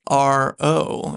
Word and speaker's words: RO: It's initials. not like Arlo. Right. It's not like someone it's not A-R. Someone did ask me how to spell it once, and I said R-O.